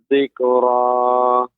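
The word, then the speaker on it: ذِكْرَىٰ: Fadzakir in nafa'atiz dzikra. Kaf, ya ini bukan huruf qalqalah, tidak memantul, akan tetapi dia memang ada sifat hamsnya, dzikra, akan tetapi tidak dzikra. Kalau bacanya dzikra, nah ini memantulkan kaf.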